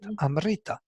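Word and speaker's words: अमृत: You will say Amrita, but not Amrita, and the accent is on Ri. Yeah, this is the Vedic accent of the word Amrita.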